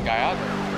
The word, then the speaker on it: Gallardo: Code 3 on a Lamborghini Gallardo. Yeah, Gallardo. See, I'm pronouncing it right.